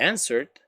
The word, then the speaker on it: answered: ok, el pasado de answered, es lo chistoso de la palabra answer, es que esto acá la gente más de uno piensa que esto se pronuncia no, la W es mute, mudita, gray, night clothes, it's